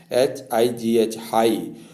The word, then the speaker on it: high: तो इस प्रकार से अगर आई के बाद GH आता है तो उसका उच्चारण हम आई या आई पढ़ते हैं, यानी बड़ी ई की छोटी ई या बड़ी ई की ध्वनि से पुकारते हैं।